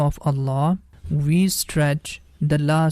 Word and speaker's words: Allah: we pronounce letter Lam in the name of Allah with heavy sound I hope you got